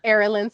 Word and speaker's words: Arilan: Arilan Skincare, correct? Yes. I pronounced it properly. Say it again. Arilan Skincare, I pronounced it Yes, you properly.